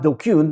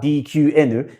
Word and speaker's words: DQN: To take a quick step back, DQN, which is pronounced DKun, not DQN, is a Japanese net slang insult, which has